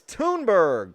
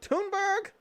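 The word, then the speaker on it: Thunberg: especially if you're rich it's tuneberg tuneburg the h is silent why the h solid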